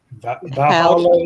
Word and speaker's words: Valhalla: I cannot pronounce that first part. Valhalla is correct.